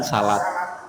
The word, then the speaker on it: salat: Tetapi kalau ditanya mana yang lebih tepat, kalau yang lebih tepat ya sholat yang lebih tepat. Tapi tidak apa-apa bilang salat.